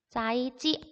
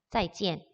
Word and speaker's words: 再见: 중국어로 짜이지 아니에요. 짜이지엔이라고 발음을 합니다. 짜이지엔.